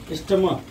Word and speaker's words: stomach: Stomach. First example you write stomach. STOMACH. Here the pronunciation of CH is K.